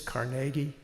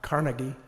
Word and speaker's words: Carnegie: And it is Carnegie, not Carnegie, as so many other people pronounce.